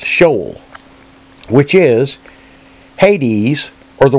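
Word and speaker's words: Sheol: H 7585 SE e o l from 7592 pronounced shol which is Hades or the world of the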